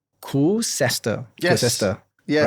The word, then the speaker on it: Koocester: minutes before this podcast that it's not Koocester, okay? Public announcement. It's actually Koocester.